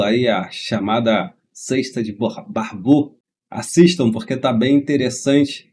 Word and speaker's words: Barbault: Então eu estava falando Barbault, na verdade é Barbeau, né? Claro, ele tem um nome francês.